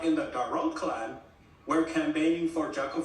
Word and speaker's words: Darod: Is Ilhan Omar advantaged in getting Somali votes in Minnesota because she is Darod?